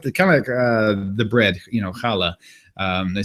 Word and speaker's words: challah: I mean, there's some people that pronounce it challah because they can't pronounce the CH.